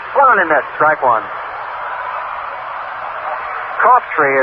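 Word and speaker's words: Coughtry: in that strike one cop tree is the way fellow pronounces his name but spell c-o-u-g-h-t-r-y but he pronounces this top tree James Marlon country class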